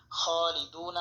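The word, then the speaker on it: خالدون: দুনা আমরা এখানে করবো ওকফের সময় নুন সাকিন হবে এবং এখানে তিন আলিফ লম্বা করে পড়তে হবে এখানে যে মদ হয়েছে মদের নাম তিন আলিফ মতে আর উচ্চারণ হবে খালিদুন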